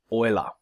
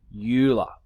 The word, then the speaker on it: Euler: it oil up and think of the stuff that you put in your car so the word oily